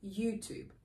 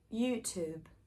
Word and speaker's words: YouTube: u sound there so it doesn't sound like to you it sounds like two two basically like number two we also have words